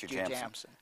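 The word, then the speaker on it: Jujamcyn: It's really three names, isn't it? The first couple of, the first syllable of three names? The owner of the company, Jim Binger, his three children, Judy, James, and Cynthia. That's how you got so it's Jew Jamson.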